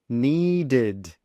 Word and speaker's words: needed: Needed, needed. So we've got an ud sound at the end, needed.